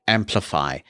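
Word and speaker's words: Amplifi: class of unified products called amplify and that is spelled in a similar way a-n-p-l-i-f-i and amplify is ubiquiti's consumer grade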